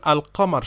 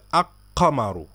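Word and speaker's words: القمر: হয় যেমন মনে করেন আলকামার শব্দ যদি আমরা উচ্চারণ করি তখন কি বলি আল কামারু এই লামটা আমরা উচ্চারণ করি এই যে এই লামটা আলিফ লামের লামটা উচ্চারণ করি এটা বলি না যে আক্কামারু বলি কি আলকামারু তো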